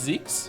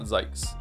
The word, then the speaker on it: Zeke: It's Eekes. It's Zeke. Okay, so I'm saying it right. It's not Zekes.